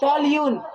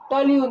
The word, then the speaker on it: toluene: CH3, जिसको हम लोग बोलते हैं टॉल्यून। क्या बोलते हैं? टॉल्यून। तो मतलब स्पेलिंग क्या है? TOLUENE, इसको क्या बोलते हैं? टॉल्यून।